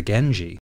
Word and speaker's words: Genji: The character for clan is generally read as shi, but when it follows the N sound at the end of gen, it becomes ji. So the Minamoto clan can also be called the Genji.